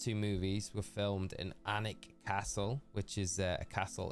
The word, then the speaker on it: Alnwick: No, it's Alnwick, the town.